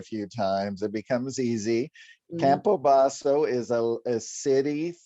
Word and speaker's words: Campobasso: But if you look at it, it's Campobasso. So how you remember it is to do it with an Italian flair. Campobasso. Then people remember it.